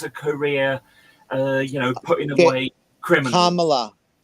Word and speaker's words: Kamala: Kamala. Kamala. Yeah. Okay. Accent on the first.